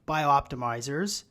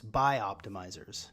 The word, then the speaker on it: BiOptimizers: is the co-founder of bio-optimizers i didn't say it right that time it's by optimizers you know there's actually